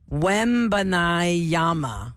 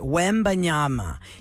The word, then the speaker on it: Wembanyama: Wembanyama. Wembanyama. That's how you say it. Wembanyama.